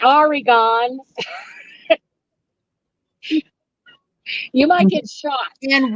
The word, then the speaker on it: Oregon: Oregon, we have, Oregon and Washington, we have Klickitat, we have Clackamas, mhm.